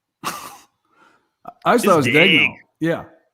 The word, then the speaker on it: Daigneault: I've heard Daigneault is I've heard that pronounced like that. It's just could not be more wrong. So Daigneault is the way that it's pronounced.